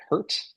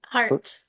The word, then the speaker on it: Hart: Uh Moafshar, the CEO and co-founder of Pipe 17, and Maline Hurt, is that how you spell it? Hart. Hart, almost almost like my name, you know, a lot of the same letters there.